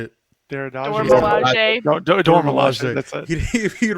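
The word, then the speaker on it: Dora Milaje: Duradage? How do you say it? Dormilaje. Dormilaje.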